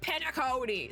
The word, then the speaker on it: Penacony: Let's go to Penacony. And I know how to say it because the video started playing like really quickly when I first clicked on it, and there's just this big voice like Penacony.